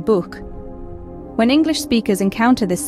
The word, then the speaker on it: Buch: The ch sound in German actually has two variations. A soft version, like in ich, and a hard version, like in Buch.